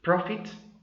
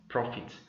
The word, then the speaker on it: prophet: Take note of the fact that the word PROPHET is pronounced exactly as PROFIT. Okay, prophet, prophet.